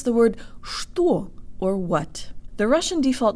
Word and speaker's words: что: I'm and today you'll learn how to pronounce the word store or what the Russian default mouth position makes